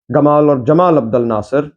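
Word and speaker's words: Gamal Abdel Nasser: Gamal or Jamal Abdul Nasser depending on where his name is pronounced and how in the different parts of the Arab world was one of the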